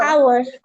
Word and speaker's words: hour: আর আরেকটা, যখন দেখো when h is silent at the beginning of the noun, use n. যেমন আমরা যখন বলি এইচ ও ইউ আর, এটাকে কি বলো, হাওয়া? কিভাবে বলো, কিভাবে বলো? Hour.